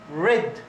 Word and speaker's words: read: Read. Okay, it's like this one. Read. So, read is the past of read. The same pronunciation of the color red.